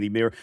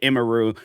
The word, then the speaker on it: Emiru: know why it's like I'll be saying imir cuz like that's how I would say it before then I hear people and it's like imaru and I'm like, "Oh, that's how it's properly pronounced."